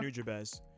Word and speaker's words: Nujabes: How did you pronounce it, consumer? Nujabes.